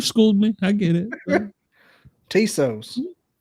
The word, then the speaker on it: Tso: chicken like TS o it's not chos I look I barely speak English I am out in the appalachin mountains and I can say it right okay okay you schooled